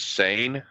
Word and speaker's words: Seine: How is it pronounced? I do believe it's Seine.